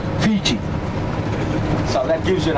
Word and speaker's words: Fiji: name called Viti, and they pronounced the word Viti as fishy. So through the Polynesians, then came the Europeans, and they came to know the island's called Fiji, and they pronounce it as Fiji.